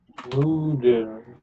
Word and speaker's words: Nudeln: Die Schweine fressen is right because it's an animal, but the word is Nudeln with stress on the first. Nudeln.